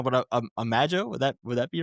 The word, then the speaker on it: Imago: the album wrong, but Imago, would that be right? Imago, it's from Imago. Latin.